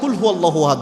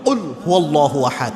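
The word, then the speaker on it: قُلْ هُوَ ٱللَّهُ أَحَدٌ: জায়গায় পড়তে যেয়ে আমরা কুলহু আল্লাহু আহাদ বলি অর্থাৎ কফ এটা কিন্তু বড় কফ এটাকে আমরা স্বাভাবিক কাপের মত উচ্চারণ করি আপনি কুলহু আল্লাহু আহাদ যখন বলেন এর অর্থ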